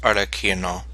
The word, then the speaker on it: Arlecchino: Okay, so it's pronounced Arlecchino. So I was a little bit closer with the second pronunciation.